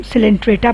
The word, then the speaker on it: Coelenterata: आज हम लोग 11th क्लास में फाइलम सिलेंट्रेटा पढ़ेंगे, जिसे निडेरिया भी कहा जाता है। ठीक है, सी साइलेंट है।